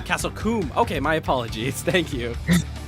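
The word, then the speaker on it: Castle Combe: to be going to castlecomb in the United Kingdom with the teeth correction I have a correction on the pronunciation it's pronounced Castle coomb okay my apologies thank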